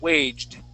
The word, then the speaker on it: waged: T but it it is a D sound waged okay but it comes off as a t